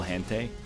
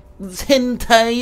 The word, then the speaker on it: Hentai: Do you see that guy's name is Tom Clancy's Sum of All Hente?